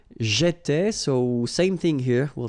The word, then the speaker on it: j'étais: Okay, so let's take 1 minute again to pronounce them. J'étais, so final S not pronounced.